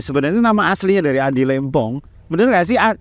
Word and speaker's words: Lempong: Oke, sebelum kita mengulik lebih dalam ya, kita pengen tahu nih sebenarnya nama aslinya dari Adi Lempong. Bener nggak sih bacanya Adi Lempong, Lempong atau Lempong?